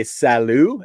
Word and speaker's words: salut: actually thinking that yeah it's like salute without pronouncing the t salute yeah yeah absolutely